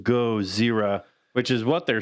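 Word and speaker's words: ゴジラ: GODZIRRA. That's how it's in Japanese. That's Godzilla's actual name in Japanese, which is pronounced GODZIRRA, which is what they're saying in a lot of those older movies.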